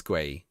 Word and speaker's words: Gray: Is it Gay or Gray? It's Gay, isn't it? Gay. No, Gray. No, it is Gray. It's the same as the English, or almost the same as the England player.